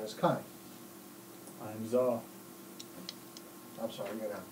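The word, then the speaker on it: Zo: I'm Zaw. I'm sorry, you're gonna have to tell me how that's spelled. Zaw. Zaw? Zaw. Like pizza. Pizza. Z-O. Z-O? Like pizza.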